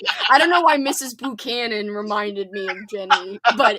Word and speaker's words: Buchanan: Buchanan.